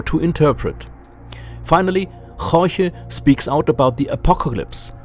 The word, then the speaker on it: Jorge: Yes, that's how his name is pronounced, Jorge, who doesn't want that anybody laughs.